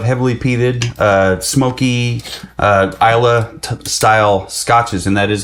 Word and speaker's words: Islay: a fan of heavily peeded uh Smoky uh Isa style scotches and that is how you pronounce it Isa uh don't argue with me I didn't I